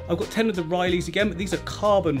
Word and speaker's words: Rili: I've got 10 of the Rilies again, but these are carbon Rilies. Is it Rili? Am I saying that right? I kept saying Rally before. It's not spelt like that, so it's spelt R-I-L-I, Rili.